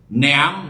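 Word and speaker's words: نعم: অনেকে এই শব্দটাকে নিয়াম পড়ে না, ভুল, এটা উচ্চারণ আরবি। নিয়াম, নিয়ামতুনের বহুবচন, আর নেমাত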